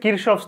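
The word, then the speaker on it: Kirchhoff: আচ্ছা দেখো আজকের টপিক হচ্ছে কারশফের সূত্র ইংরেজি উচ্চারণ হচ্ছে কৃষবস ল ঠিক আছে কারশফের দুইটা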